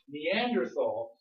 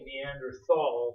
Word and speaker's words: Neanderthal: the time I'll say Neanderthal with the th because that's the way we say th in English but in German they would pronounce it like a t but I usually say